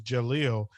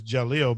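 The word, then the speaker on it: D'Jahlil: that is partially why my grandson's name is Jaleel and the D is silent. Oh, okay. His name is Jaleel, but it's spelled D apostrophe J AHLIL, Hmm.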